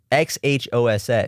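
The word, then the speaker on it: Xhosa: speaking with that tongue, but it's Khosa. It's a really cool language. It's from what country is it from? It's South Africa. Okay. Steve Harvey cannot pronounce the click in Kosa.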